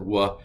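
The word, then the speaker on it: וָו: So you still will hear some people pronounce it wa and some people pronounce it v. I'm going to go with the modern Hebrew pronunciation and pronounce it v.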